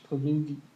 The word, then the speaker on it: Pileggi: See it is right there, and it stars Michael Murphy, Peter Berg, and Mitch Pileggi. I think that's how you pronounce it.